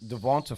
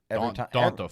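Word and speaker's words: D'Onta: Devonta Foreman took over. He did not do well. Strong Jr. Donta Foreman.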